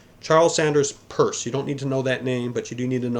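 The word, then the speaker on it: Peirce: Charles Sanders purse uh if you look at his last name it looks like it should be pronounced Pierce but it's p i r CE and it's pronounced purse Charles Sanders purse you don't need to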